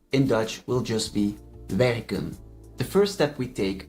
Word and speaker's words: werken: The E is pronounced short in both the infinitive verb and the stem. Werken, werk. As you can hear, the pronunciation of the E did not change.